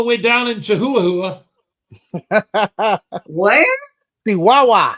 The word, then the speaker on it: Chihuahua: Chihuahua. Chihuahua. But it is spelled Chihuahua for all you gringos out there.